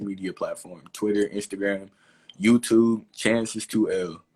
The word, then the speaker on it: Chances2L: Chances2L. So that's how it's pronounced. It's not an I. It's not anything else. It's an L. Chances2L is my handle.